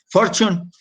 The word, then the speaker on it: Fortune: de la revista fortune for zion for zion pronunciación correcta en inglés for zion fue declarado como el empresario del siglo 20